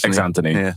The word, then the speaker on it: Xnthony: So, sorry, do you pronounce it Xnthony? Xnthony, yeah.